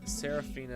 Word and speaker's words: Seraphina: gonna be a lion and had to respell that stairs let him begin I didn't get down s-e-r-a -p-h-i-n-a Seraphina oh it's just one word yes that's